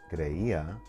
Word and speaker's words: creía: So if you have a word like creía, yo creía, tú creías, él creía, you would place an accent on the I because that's where you have the stronger stress.